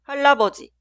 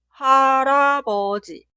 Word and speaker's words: 할아버지: Por eso cuidado, esta palabra nunca suena 할아버지. La pronunciación correcta es 할아버지.